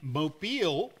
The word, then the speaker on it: Mobile: Jim Stennett in Mobile, Alabama. You know, I used to call it mobile, So did I. but it's Mobile.